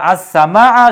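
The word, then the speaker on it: السماء: সিনটা হচ্ছে সূর্যাক্ষর সেজন্য সিনের পূর্বে আলিফ লাম বসানো হয়েছে কিন্তু লামের উচ্চারণ হবে না সূত্র অনুসারে আর এই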